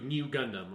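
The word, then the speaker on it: ν Gundam: character sorry that is pronounced new okay it is new it is in you new gundam on that's how it's red and i will say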